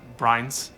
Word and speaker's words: Brianz: brains is it uh no ma'am it's actually pronounced brines are you sure son